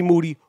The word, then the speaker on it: Moody: Now, I am a bigger fan of Kanye West than Moody, whose last name rhymes with Duty.